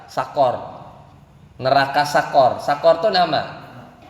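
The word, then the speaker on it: سقر: Nah, kalau yang ini enggak, huruf qafnya dia qafnya itu adalah fathah. Bacanya apa? Sakor.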